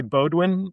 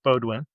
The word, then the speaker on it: Beaudoin: So my name is doesn't exist in France and we say Bodwin in the United States Bodwin.